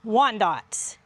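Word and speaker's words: Wyandotte: chicks are silver laced wand dots. Some people say wand dot different. We're from the south. That's how I've always said it.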